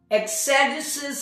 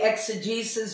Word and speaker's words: exegesis: I pronounce it as exegesis, and some people say exegesis. Whatever suits you is fine with me.